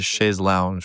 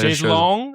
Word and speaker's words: chaise longue: He called it a chaise lounge, which is A chaise longue, I believe.